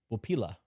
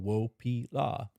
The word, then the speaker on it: wopila: Super chat, you said it right. Wopila. Okay. Thank you for that. I'm going to always say that slow in my head now. Wopila.